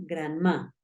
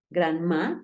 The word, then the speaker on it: grandma: Acuérdate que esa A suena más como una E.